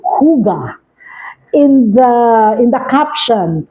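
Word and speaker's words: hygge: okay Yankee YY golf Echo okay but it's pronounced Huga all right so what is the concept of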